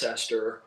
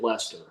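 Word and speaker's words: Leicester: A lot of folks that are not from here, they will pronounce at least Cester, right? But those of us that are native, we always say Lester.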